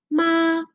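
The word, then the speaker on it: 麻: El primero, que tiene el número 1 porque es primer tono, significa mamá y se pronunciaría algo así como ma.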